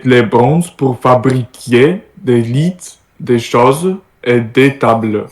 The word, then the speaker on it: lit: des lits. By the way, do you pronounce T? Let me check. Do you pronounce T? Lit.